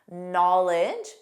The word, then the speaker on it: knowledge: Knowledge, which we already reviewed because of the silent D, but also a silent K.